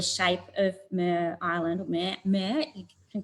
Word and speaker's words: Mer: colleagues about the shape of Mer Island, or Mer. You can correct my pronunciation, Gail.